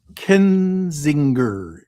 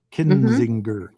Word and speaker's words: Kinzinger: Kenzinger. Is that Is that how you say it? Kinsinger. I think I trip up because I I grew up on Kissinger.